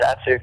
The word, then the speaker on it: Datsyuk: Make sure I pronounce his last name right. Datsyuk? Yeah, Pavel Datsyuk.